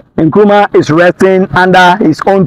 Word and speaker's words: Nkrumah: By then, Nkrumah, as we pronounce Nkrumah initially, or the actual name is being pronounced Ngoloma in the tribe in which he comes from.